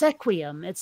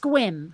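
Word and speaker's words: Sequim: where it looks like it ought to be pronounced sequi emits like seq uim it's pronounced Quin a friend of mine who lived there mm-hmm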